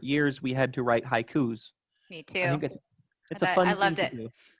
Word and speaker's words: haiku: same with diphthongs too we could look at the word haiku itself to us it's two syllables but in japanese it's high three beats three more for those listening let's just stretch it out it would be three that's a perfect example tyler that's two syllables in english that's going to be three more in japanese so the question is